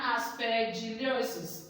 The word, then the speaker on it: aspergillosis: The fungal diseases are ringworm and aspergillosis. Aspergillosis. That's how it is pronounced.